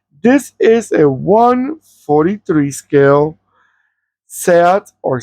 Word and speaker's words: SEAT: I think it's pronounced Seat. It is a Spanish brand and that's a Spanish name. And we in Spanish we pronounce the way it's written the same way we pronounce it.